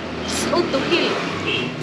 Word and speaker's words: Tz'utujil: Normalmente yo digo Tzutujil, pero su primera pronunciación es Tzutujil. Tutujil. Tzutujil.